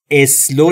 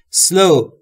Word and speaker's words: slow: تلفظ slow رو هم دقت بکنید. اسلو نگفتم دوستان. اولش هیچ صدایی وجود نداره، ما هم صدای اضافه نمی کنیم. سلو، سلو، اسلو نمیگیم.